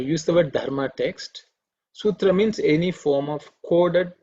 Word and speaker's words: sutra: also they there's a there are a few people pronounce the shoe so it is su it's a dental sir sutra so i'm just